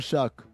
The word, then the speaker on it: Shough: Also, Tyler Shuck. Spell your name right or pronounce it right.